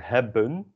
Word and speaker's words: hebben: So hebben is pronounced same as the e in de.